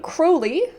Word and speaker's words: Crowley: is uh it says the name Crowley rhymes with holy he gave the uh